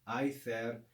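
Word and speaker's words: aether: sky the latin is ether or in classical i there and then the greek is also i there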